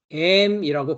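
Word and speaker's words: אֵם: 이 어머니라고 하고 있는 단어는 M이라고 발음을 하는데요.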